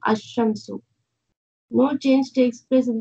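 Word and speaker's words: الشمس: Al-shams, it is, when it is pronounced, it will become ash-shamsu.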